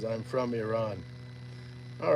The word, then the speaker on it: Iran: Oh, that's a play on Iran, but it's it's Iran is the the way we pronounce it.